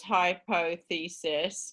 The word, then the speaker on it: hypothesis: so we'd say right there's four syllables hypothesis but it's a two for two stress words so hypothesis and then